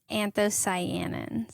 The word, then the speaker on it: anthocyanins: It's anthocyanins. Anthocyanins. I mixed different syllables.